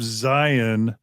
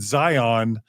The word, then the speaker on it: Zion: People outside of Mormonism, by the way, pronounce it Zion, but in the church, I've always heard it pronounced Zion. And I don't know if you even have come into that, but it's always weird to hear someone say Zion, but that's pretty much everyone but a Mormon, unless I pronounce it wrong.